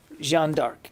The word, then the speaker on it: Jeanne d'Arc: But the way I was told to pronounce it was Jeanne d'Arc.